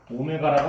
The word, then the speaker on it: 오메가: 자, x 세제곱은 1에 한 허근을 오메가라고 합시다. W가 아니고 오메가라고 읽으시면 돼요.